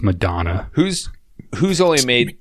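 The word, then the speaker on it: McDonagh: McDonough. He wouldn't be on there. Or McDonough, some Irish. It's pronounced Madonna.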